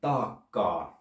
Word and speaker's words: taakkaa: So all these words are two-syllable words, but the length is very varying from taka to taakkaa. So don't try to make all the syllables equally long, which is the rule in English and other Germanic languages. Keep them different length depending on the number of letters.